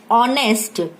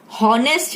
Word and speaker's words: honest: But student जब इसे हम बोलते हैं, हम इसको प्रोनाउंस करते हैं वी से ऑनेस्ट, ऑनेस्ट, तो इसमें पहले हम बोलते हैं ओ, ऑनेस्ट. So here H is silent, so that's why we will use here article AN. इसमें भले आगे एच लिखा है बट इसका प्रोनाउंसिएशन जब हम इसको बोलते हैं, इसको हम बोलते हैं ऑनेस्ट, हॉनेस्ट नहीं बोलते.